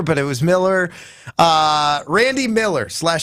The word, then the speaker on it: Mueller: And at The Athletic, there was a ranking done by Randy, I think it's Miller or Mueller, Joshy. I think you're right with Miller. I think it's Miller, but it's spelled Mueller.